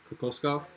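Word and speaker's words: Igor Kokoškov: Say that name. Say his name. Where? The Phoenix head coach. Kokoskov? Yeah, that's good.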